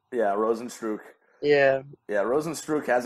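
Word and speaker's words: Rozenstruik: Ghana yeah yeah what roads what's his name Rosen's true yeah Rosen's true yeah yeah Rosen's true has a kickboxing background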